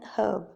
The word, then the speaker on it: herb: in most american ascent the h in herb is silent so american says and herb in many british ascent the h in herb is pronounced so many british say yeah herb in some british ascent